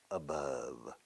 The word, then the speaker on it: above: Se pronuncia como amor. Love, above.